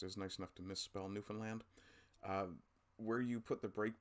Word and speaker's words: Newfoundland: can kind of realize we're not the new found land, we're the newfound land. And I think that actually might help with pronunciation for a lot of people.